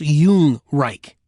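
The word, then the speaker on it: Yungreich: That's pronounced Yung Reich, in case you were wondering.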